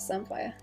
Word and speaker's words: samphire: It's like Sam and then PH, like sapphire, kind of.